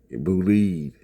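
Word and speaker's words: Bolide: Boulide, that's how it's pronounced.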